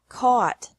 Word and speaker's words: caught: Caught. Caught. Fight. Fought. Fought. Seek. Sought. Sought. Teach. Taught. Taught. Think. Thought. Thought. Remember that the G is silent in these verbs.